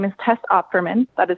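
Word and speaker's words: Opferman: For the record, my name is Tess Operman. that is spelled O P F E R M.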